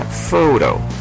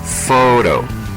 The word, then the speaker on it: photo: ejemplo las palabras Photo donde la p y la H juntas tienen el sonido de la f como en la palabra Photo Photo que significa foto y la palabra Beat